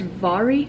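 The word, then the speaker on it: Mhairi: by vari MacFarlane and her name is pronounced vari I believe I heard that correctly in the audiobook so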